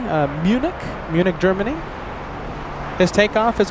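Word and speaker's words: München: Captain Marcos, he's going to be flying uh flying the A380 to Munchin, as the locals say. Uh Munich, Munich, Germany.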